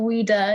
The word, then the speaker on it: Wieder: Wieder. It's spelled.